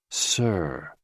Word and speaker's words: si: associated with the heart s i pronounced like Sir with a slow exhale